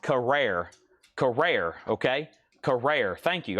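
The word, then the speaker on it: Carrere: It's pronounced Carrer. Carrer. Okay. Carrer. Thank you. I've been No one's ever really said Chad. It's pronounced this way. I've always said Karee or Carrer.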